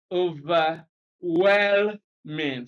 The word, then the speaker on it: overwhelming: on intuition for example how is this word pronounced how have you often had it pronounced have you heard it as overwhelming or overwhelming or overwhelming now even relying on the on on intuition you know that it is over well mean so you will place stress here because that's what you have had over time and if you have always had the correct pronunciation you are right over well I mean that's so that's